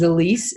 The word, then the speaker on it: Zilis: all this company was founded as Elysee is the way it's pronounced and it was founded